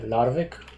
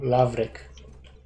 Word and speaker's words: Lavrik: Hey, Larvik, is it? No, Lavrik. Not Larvik. Lavrik.